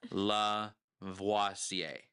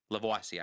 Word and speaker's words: Lavoisier: I don't know how to pronounce that last name. Lavoisier. Lavoisier, I think is how you pronounce it.